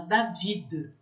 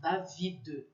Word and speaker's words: David: Eu, por exemplo, tenho um amigo francês que se chama David e pronuncia-se o D no final, David.